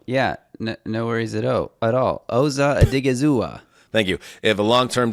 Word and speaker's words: Osa Odighizuwa: Osa Odighizuwa.